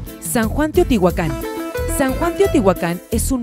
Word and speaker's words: Teotihuacán: oeste con Tecámac nombre de San Juan Teotihuacán con acento prosódico en la última sílaba fue el que subsistió